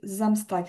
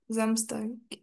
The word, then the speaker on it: Samstag: Euh et fais attention à la prononciation de Zamstag. C'est vraiment comme un un Z au début. Ah ok. Zamstag.